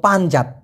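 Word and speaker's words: panjat: সেটা হলো পানজাত। পি এ এন জে এটি উচ্চারণটা হবে পান জাত।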